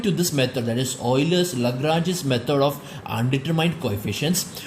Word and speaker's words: Euler: going to use is called as this is pronounced as Euler.